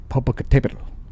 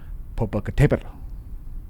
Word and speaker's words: Popocatépetl: Popocatépetl. It has an accent mark to remind you how to pronounce it. Popocatépetl.